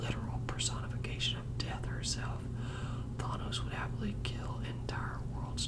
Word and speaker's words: Thanos: thanks to the movies we have thanos or donos it's been pronounced both ways but i'm pretty sure it's it's thanos um the name thanos